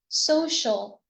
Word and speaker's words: social: Do we pronounce it as Sh? Okay, so great job, everyone. We pronounce it as Sh. Social, social, social.